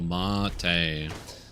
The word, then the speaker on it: mate: Oh, mate. Look, man, that ain't spelled like mate, but now we know.